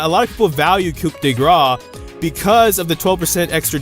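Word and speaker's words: coup de grâce: lot of people say Coup de Grace is actually better. By the way, that's how it's pronounced. It's Coup de Grace, not Coup de Grace.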